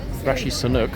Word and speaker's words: Rishi Sunak: Rishi Sunak, and yes, I did pronounce it correctly, is not even in London.